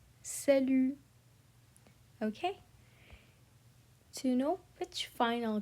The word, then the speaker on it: salut: Same in salut, we drop the T. Okay? We drop the T. We say salut, salut.